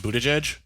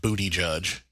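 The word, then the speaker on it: Buttigieg: him partly because his last name is actually pronounced Buddha jej uh-huh and it just sounds vaguely like booty judge which you know is all the more fitting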